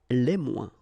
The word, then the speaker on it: les moins: Okay, so le moins, remember when we combine this O-E-N together, we get the sound ouin, ouin, ouin, okay, and we don't pronounce this final S. Le moins, la moins, les moins.